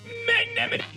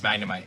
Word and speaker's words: Magnemite: there I found a Magnemite. Hello. Or as I like to say, Magnemite. Seriously, that's how you pronounce Magnemite.